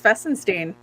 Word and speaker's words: Fesinstine: You actually are one of the rare ones that got it right. It is Fessenstein.